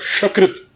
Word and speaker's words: शकृत: और इसी पर एक जगह है शकृत, शकृत, शकृत, सीटी वाला श जिसे कहते हैं तालव्य श।